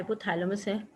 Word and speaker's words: hypothalamus: Hypothalamic नहीं है, hypothalamus है. मैंने स्पेलिंग एरर कर दिया होगा.